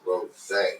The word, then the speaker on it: Rosey: So it's spelled Rosie, but it's pronounced Rose. Yeah, I just forgot to put the.